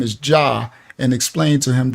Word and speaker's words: Jah: 68 and4 which says yah's name is Jah and explained to him there was no J in ancient Hebrew so it would be pronounced yah he didn't seem to